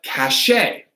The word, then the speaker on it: cachet: So for here, these words we have cachet, right? Cachet, chemise, mustache, right? So these aren't pronounced with a CH or a K, they're an SH.